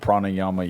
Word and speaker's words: pranayama: And it's like they have the whole thing called pranayama yoga. I believe is how it's pronounced.